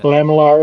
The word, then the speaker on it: lamellar: Lamellar is the correct pronunciation.